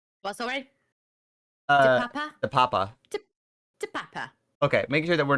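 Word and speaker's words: Te Papa: They did say it's Tepapa, right? Not we're not saying it wrong. What's alright? Uh, Papa? Tepapa. To Papa.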